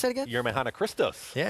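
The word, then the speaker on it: Yemrehanna Krestos: How do we pronounce that again? Yermehana Christos.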